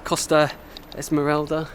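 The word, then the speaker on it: Costa Smeralda: most expensive coasts uh in europe which is costa esmeralda is how you pronounce it and sardinia right sheep outnumber the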